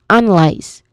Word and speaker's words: analyze: It sounds like lies. Like l i e s lies but with a buzzing sound at the end. Not a hissing sound. So it's lies. And there is a clear dip thong sound in there. The dip thong is I. Okay. I and lies.